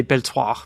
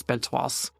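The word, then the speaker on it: Beltoise: belas I used to I used to say belto but apparently it's belas Olivier Bera again very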